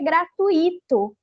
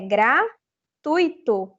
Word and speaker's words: gratuito: pública não rubrika bom o mesmo ocorre com gratuito né a gente escuta muita gente falar que é gratuito não gente é gratuito Então esse tui né que é a sílaba mais forte e a gente